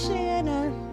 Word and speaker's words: Shanna: And she'd always just come out like, my name is Shanna, it rhymes with banana, and this, my friends, is a Shanna show.